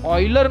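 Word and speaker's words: Euler: मैं इसे miss pronounce नहीं कर रहा, एक्चुअल में इसका नाम ऑयलर ही है, ले क्योंकि ये जर्मन बंदा है और इसका जो स्पेलिंग है वो इंग्लिश में कुछ ऐसा आता है, ठीक है, तो हम इसे यूलर पढ़ लेते हैं, लेकिन एक्चुअली इसके नाम का प्रोनाउंसिएशन ऑयलर है।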